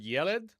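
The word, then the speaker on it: ילד: So, next, the word yelled, which means boy or child. Yelled. Yelled. Accent on the first syllable or stress on the first syllable.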